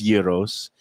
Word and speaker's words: gyro: Brooklyn and in Queens in Queens it was Yos in Brooklyn and parts of Staten Island it was gyro gyro gyro and it still